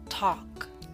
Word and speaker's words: talk: Talk. Note the L is silent in talk.